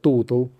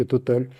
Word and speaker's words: Total: Не так давно компания «Сакар», это главная ТНК, единственная, естественно, в Азербайджане, получила предложение от французской компании Total, мы нередко произносим на английский лад Total, по-французски Total, принять 30 миллиардов евро,